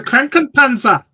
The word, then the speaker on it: Krankenpanzer: How do you pronounce it, John? Hannah Mag. It's the Krankenpanzer.